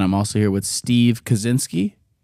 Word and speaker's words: Koscinski: So Koscinski. Koscinski.